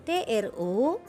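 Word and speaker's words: trop: Kemudian kata tro ditulis dengan TRO dan P di belakang, maka disebutkan hanya tro saja.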